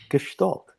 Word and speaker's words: Gestalt: And you can pronounce it better probably than I can. Gestalt means... Gestalt, like that, yes.